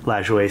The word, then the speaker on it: Lajoie: Been heard it many different ways, actually, but Lajoie seems to be the correct way, because I did see it in the Ken Burns documentary.